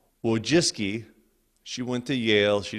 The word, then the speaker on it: Wojcicki: Brin and his wife and I want to pronounce her last name correctly whoa jiske she went to Yale she didn't just marry